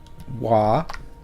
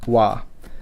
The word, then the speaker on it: わ: It's kind of subtle, but wa and ua, wa, ua. It's probably not a big deal if you just pronounce it as wa, but just so you know the kind of linguistic roots, the w is really just a u sound. It's a u plus whatever the next thing is.